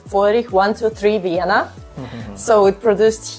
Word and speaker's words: Feurich: Okay, so now we know how to pronounce FEURICH.